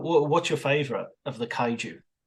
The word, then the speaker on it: Kaiju: and you'll have to help me with the pronunciation because the Japanese word for them is Kajuru. Is that right? Uh, Kai Kaiju.